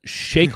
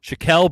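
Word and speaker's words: Shaquille: on no okay uh Shake Shack shael shael would be the correct way to pronounce it I should have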